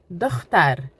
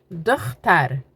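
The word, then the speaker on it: دختر: All right, look down below of how I'm spelling that out so you can pronounce it with me. Bacha means boy. Girl, dochter, dochter, dochter, dochter, girl.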